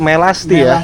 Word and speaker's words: Melasti: Tipe melasti di dikira tadi dibacanya melati melasti ya. Melasti.